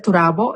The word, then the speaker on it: Turabo: She had taught in the graduate level of psychology in the Universidad del Turabo in Puerto Rico.